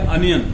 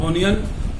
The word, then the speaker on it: onion: लेकिन जो घर में हम उपकरण यूज करते हैं वो होता है अवन, और जो प्याज हम खाते हैं वो होती है अनियन, नॉट ओनियन, नॉट ओवन, इट्स अनियन एंड अवन, mind it.